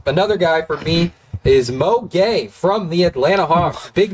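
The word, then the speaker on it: Mo Gueye: last night why you laugh what's his name Mo gay not spelled the same as Rudy it's um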